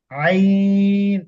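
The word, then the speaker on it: عين: এটা হচ্ছে গইন এটাতে নুক্তা নাই এটা হচ্ছে আইন এটা হচ্ছে আইন আইন আইন না দেখেন আমার উচ্চারণটা শুনেন তারপরে ইনশাল্লাহ আমার সাথে মসক করেন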